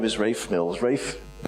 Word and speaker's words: Ralph: name is rafe mills rafe r-a-l-p-h is pronounced rafe but i can't pronounce